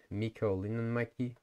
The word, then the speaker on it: Mikko Linnanmäki: So Tero Katajainen, which is pronounced Tero Katajainen in Finnish, and then there's Mikko Linnanmäki, that's how it's pronounced, and then there's more